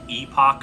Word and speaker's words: epoch: you're from the second Epoch of time time itself yes I'm still having a problem with the fact that it is pronounced epic Incorrect and so we're